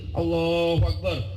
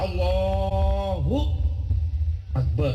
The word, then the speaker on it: Allahu akbar: jadi supaya salatnya benar diajarin takbir itu begini Allahu akbar hamzahnya begini lamnya panjang terus bacanya harus benar Allahu akbar enggak boleh Akbar Enggak